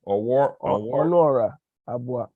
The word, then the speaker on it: Onuora Abuah: How you pronounce the name? Onuora, Abuah.